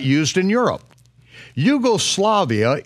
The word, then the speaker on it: Yugoslavia: not used in Europe Yugoslavia is spelled with a capital J and only Americans mispronounce it as jugo-slavia yeh Seuss is as